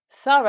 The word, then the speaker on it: thorough: Thorough actually is an unvoiced TH, so with the tongue between the lips again, but only just made by the mouth, no voice involved.